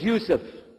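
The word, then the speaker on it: Yusuf: we'll work on it shaolong my name is Yusef do you say yourself he said you see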